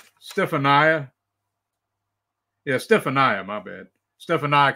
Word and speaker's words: Stefania: And same with Cassini, Stefani. Is that how you say her name? Stefania.